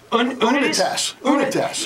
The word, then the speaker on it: Unitas: And all of a sudden, how did they pronounce it? Unitas. Isn't that funny? Yeah. Because if you just looked at it on a sheet of paper and you knew nothing about football, you probably would mispronounce it, right?